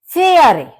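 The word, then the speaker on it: Fähre: अब आप देखेंगे ए के ऊपर उमलाउट है, और उमलाउट जब हमारा लग जाता है तो इसको हम प्रोनाउंस करते हैं आई की तरह से, वरना ए को हम आ कहते हैं। तो ए के ऊपर उमलाउट लगने से इसका प्रोनाउंसिएशन होगा फेयरा।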